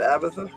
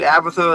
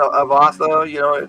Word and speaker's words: Abatha: Is that how you're going to pronounce that, Abatha? Sure. I went back and forth between Abatha and Avatha. I kind of like Abatha. Avatha sounds.